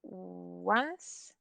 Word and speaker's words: once: Entonces, por ejemplo, tenemos once, esto se pronuncia once, y ahí significa, ay, que no, déjeme como yo lo pongo, once, y significa una vez.